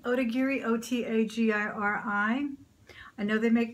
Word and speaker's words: Otagiri: Yeah, it's Otagiri, Otagiri, O-T-A-G-I-R-I.